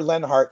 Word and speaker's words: Leonhart: Leonhart, but it's pronounced Lenhart. Fire Lenhart is the hashtag if you want to get involved with that.